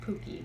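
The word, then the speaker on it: PUCPR: pontifical catholic university of parna we call it pookie for short um p-u-c-p-r is how it's spelled uh the but we pronounce it pooky because brazil you don't prince it's a long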